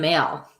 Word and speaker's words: Maile: How do you pronounce it? Like Miley Cyrus. Oh, it's Maile.